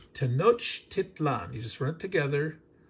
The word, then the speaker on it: Tenochtitlan: Pronounce it exactly as it's spelled, not having a problem with the CH and the T. Tenochtitlan. You just run it together. Tenochtitlan.